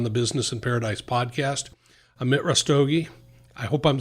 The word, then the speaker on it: Amit Rastogi: for coming on the business and paradise podcast amit rustoge i hope i'm saying it right amit russ doggy that's perfect thank you so much for being